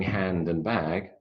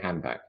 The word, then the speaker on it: handbag: witch we're saying sandwich we're not saying hand and bag we're saying handbag so that's what I